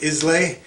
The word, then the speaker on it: Islay: made in the aisle of how do you pronounce it islay and islay is famous for very smoky scotches